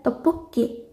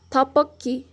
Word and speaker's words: 떡볶이: Quando são seguidas de consoantes, elas fortalecem o som da letra, como na palavra tteokbokki.